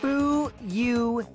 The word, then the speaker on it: Fuyuhiko: My first name is pronounced Fu-Yu-Hi-Ko.